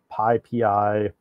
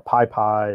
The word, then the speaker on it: PyPI: So this the code name here is the cheese shop, but it's also called PyPI or PyPy. It's pronounced a bunch of different ways, but it's the Python package index.